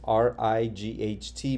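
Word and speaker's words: write: Remember the rule, W followed by an R means the W is silent.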